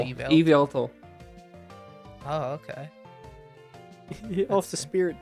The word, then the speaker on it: Yveltal: Wyvalto. Did you say Wyvalto? How do you pronounce it? Yveltal? Yveltal? It's like evil. Yveltal.